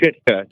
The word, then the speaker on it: Sitka: It's pronounced Shitka.